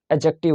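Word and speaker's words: adjective: यहाँ पे एडजेक्टिव होगा, डी साइलेंट होता है।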